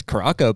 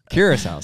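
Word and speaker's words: Curaçao: I was like, yeah, this Caraco place looks sweet, until I realized it's the same place I the week before. I was like, oh, you've been going here for years. Yeah. Curacao's how you say it.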